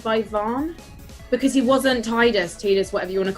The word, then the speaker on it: Tidus: I learned from Dan, who's the community manager for Final Fantasy 15 in Europe, that Tidus is actually pronounced Tidus, but I can't do that.